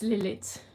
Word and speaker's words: Lilith: out but yeah it's lilith and uh we don't pronounce the th it's just like a